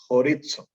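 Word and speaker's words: χωρίζω: discusión son el primero aunque se escriba como lo ven así se pronuncia horizon así que no piensa en comida horitzó que indica separarse o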